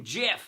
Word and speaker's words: GIF: It's a hard G. I don't know where people get the GIF part of it. IT'S FREAKING GIF.